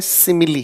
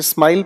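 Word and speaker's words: simile: इसे हम पढ़ते हैं तो इसे हम कहते हैं सिमिली। कुछ लोग इसे स्माइल पढ़ रहे हैं, स्माइल नहीं, स्माइली भी नहीं है।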